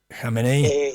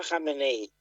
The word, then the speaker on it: Jameneí: Jameneí, así, pero es Mfáeneí. En la i Jameneí. Y y esto esto que se escribe Mfá me suena a Mustafá.